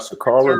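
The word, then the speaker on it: Sha'Carri: athlete like whether it be he called out shakar that's how you say her name he called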